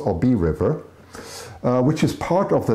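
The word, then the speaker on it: Obey River: The Obi, or yeah, Obi, yeah, pronounced Obi River. Yeah, it's pronounced Obi River, which is part of the lake.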